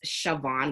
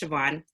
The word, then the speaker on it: Siobhan: me my name is siobhan it's pronounced siobhan with a v even though there's no v in it it's an irish name i've been made fun